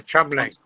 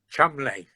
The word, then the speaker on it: Cholmondeley: Oh, Chumley. How do you say it? Chumley.